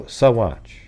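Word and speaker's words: Saguache: it's really one of those things where, okay, Sawatch. Sawatch. Is that it? Sawatch? Okay, so Sawatch.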